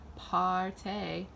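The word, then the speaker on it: Paaarty: Blush in the shade Parte. It's spelled party with like 3 A's, that's why I pronounce it that way.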